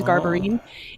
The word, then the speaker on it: Garberine: an italian maiden name my maiden name is garberine it's spelled exactly how it's pronounced no one says it